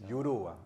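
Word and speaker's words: Juruá: I will let Marcelo pronounce this because if I'm not mistaken, yeah, it's a JURUA. That's correct. JURUA.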